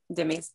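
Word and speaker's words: dhimmis: this word for me it's d-h-i-m-m-i-s yep jimmy i said it right amazing thank you dimmy's in syria and uzbekistan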